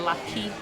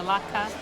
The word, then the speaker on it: latke: I've been saying it wrong. I've been calling it a latke. It's a latke.